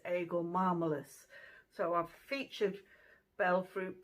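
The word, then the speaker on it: Aegle marmelos: I'll put the botanical name up here, and I think the pronunciation of the botanical name is Eagle marmalus.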